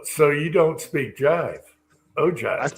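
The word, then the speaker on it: ogive: I when it's listed on Google it says o g i e. So o give. You can say o give if you wanted to.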